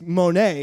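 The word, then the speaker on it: Mo'ne: I like to call her Money. Money. Her name is Monet. It's pronounced Monet.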